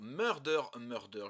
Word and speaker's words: Murder X Murder: cas de mon côté je suis de la team qui ne dit pas Hunter x Hunter mais Hunter Hunter donc je fais la même chose pour murder murder je ne prononce pas le X donc je sais que